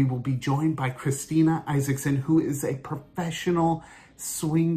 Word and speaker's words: Isaksen: for joining us today so this is steena Isaacson is that how you pronounce your last name that is how you